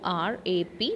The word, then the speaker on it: wrap: more then third one rap w is silent w r a p we will pronounce it